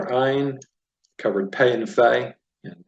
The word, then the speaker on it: Ayin: We've got Nun, we've covered Samech, we covered the silent letter Ayin, covered Pei and Fei, and Pei and Fei Sophit.